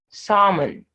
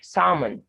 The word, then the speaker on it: salmon: the early silence yolk salmon not salmon that fish salmon half folk so the l is silent in these words k is silent wait